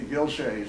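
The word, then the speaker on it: Ghilzai: And when they talk about Gilzai, they say Gilshay.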